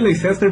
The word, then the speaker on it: Leicester: Se escreve Leicester, mas pronuncia Leicester City.